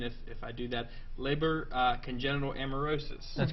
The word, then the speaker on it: Leber congenital amaurosis: Now, the problem or the condition is called, and forgive my mispronunciation if I do that, Leber congenital amaurosis.